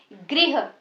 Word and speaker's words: गृह: यह है री की मात्रा, ठीक है, ये हमारा र की मात्रा नहीं है, इसको हम री बोलते हैं। तो इसका जो उच्चारण है वो भी ग्रह नहीं होता है, इसका उच्चारण होता है गृह, ग्री, री की साउंड इसमें आती है, गृह।